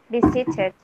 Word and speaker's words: visited: Remember, because the E, before the E, you see the T, you have to, sorry, you have to make it sound, okay? So the E here is not silent. You have to pronounce it again.